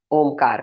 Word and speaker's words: ओम: ओ को छोटा रखेंगे। म को लंबा रखेंगे। दो ही वर्ड्स का दो ही लेटर का उच्चारण करना है। ओ म ओ को एकदम छोटा रखेंगे। म को पूरा लंबा रखेंगे।